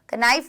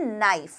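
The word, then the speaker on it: knife: शब्द ऐसे होते हैं अगर आपको लिखना है नाइस तो आपके लगाते हैं शुरुआत में कनैफ नहीं बोलते ना आप क्या बोलते हैं नाइस लेकिन उसकी स्पेलिंग क्या होती है की एन आई एफ आई यहां पर के साइलेंट है मतलब इसका उच्चारण आपको नहीं करना है समझ में आई बात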